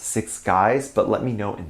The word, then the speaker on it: Six6uys: The second 6 in the name is supposed to look like a G, I think. So I think it’s pronounced Six Guys.